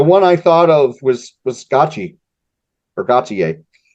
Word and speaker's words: Gotye: Well, I know we talked about this off air, but the one I thought of was Gotye or Gotye. Gotye. Gotye, thank you. I was trying to. How do you pronounce this?